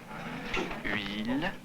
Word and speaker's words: huile: Mettez bien les organes intérieurs, la langue, tout ça, pour prononcer comme pour prononcer le U. Et là, vous dites rapidement après la voyelle I. Alors ça fait huile, huile, huile.